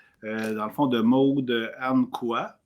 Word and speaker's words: Ankaoua: Dans le fond, de Maude Anne Quoi. Anne Quoi. Je pense comme il faut, Valérie. C'est Anne Quoi. Ankawa. Ankawa. OK, Ankawa, c'est dur à prononcer.